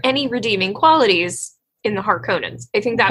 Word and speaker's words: Harkonnen: Is there any redeeming qualities in the Harkonnens? I think that right off the bat, planning. A big surprise, a big thing. Paul reveals you're Harkonnen or Harkonnen.